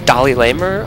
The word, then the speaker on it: DalaiLamer: Starcraft 2 replay between Dolly Lamer I think is how you pronounce it that's how I pronounce it because that's how I